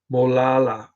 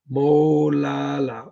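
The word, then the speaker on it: Molalla: Joe, it's pronounced Molala. Molala. Molale. Molali. Molala. Molala. Like mowing the lawn and La La Land.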